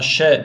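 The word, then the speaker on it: ش: Şin harfidir Şin Eee Şin harfi ince bir harftir ona şe diyeceğiz bu harfimiz sa harfi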